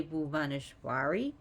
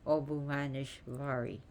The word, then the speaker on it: Bhuvaneshvari: of means nature and remember the V and W are interchangeable in Sanskrit so it's because you could say blue vanish Bari obuvanishvari she also has